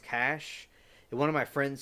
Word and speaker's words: cache: and she was saying cache and I remember from like the coding stuff I do and other people the chat we're saying it's called It's pronounced cash and one of my